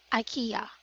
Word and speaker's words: IKEA: is a western country so it should be pronounced as IKEA ok ok and the other one is this